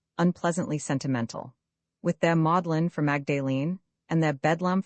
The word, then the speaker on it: Magdalene: In England, the word is pronounced modellin whence modlin adjective unpleasantly sentimental. With their modlin for Magdalene and their